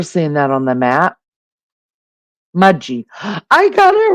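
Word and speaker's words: Mudgee: to pronounce it right it is pronounced mud G but it's spelled mud GE um just to let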